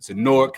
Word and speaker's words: Newark: Newark. Why? Newark. Newark. I can't Newark. say that. Like pork with an N.